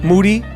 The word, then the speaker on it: Moody: Moody, whose last name rhymes with duty.